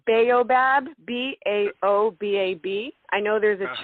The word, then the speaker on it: B'aobab: into a little bit of branding, but it's Baobab, Baobab. I know there's a tree in Madagascar, and they pronounce it Baob.